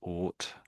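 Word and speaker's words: Oort: So, this there is something called the ought cloud. So, that's pronounced ought.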